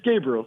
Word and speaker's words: Gabriel: How do I pronounce it? It's Gabriel.